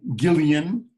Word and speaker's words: Guillain: It's actually 2 French doctors, Guillain or Gillian, which is the French for William, and the other doctor's name was Barré, like Barry.